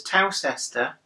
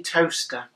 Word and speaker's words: Towcester: In the meantime, I've never found it on a map until it suddenly clicked that the place that in my head was Towcester was actually Toaster.